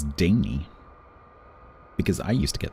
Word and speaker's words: Danae: One that a lot of people get wrong is Daney.